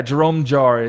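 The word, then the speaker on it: Jérôme Jarre: Yeah, Jerome Jarre is how you pronounce it.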